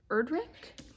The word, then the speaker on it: Erdrich: just started the sentence by louise erdrich um is how you pronounce her name and this is probably